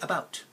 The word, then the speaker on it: about: mmm to right now where do I feel or see the schwa in this word it's in the first syllable right about now the bout part my mouth should be doing more effort or taking more effort to say the bout part compared to the a part but notice I don't